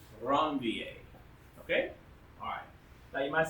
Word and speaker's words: Ranvier: Now, yeah, if you want to pronounce it Ranvier, that's fine, but it's pronounced with the French name Ranvier.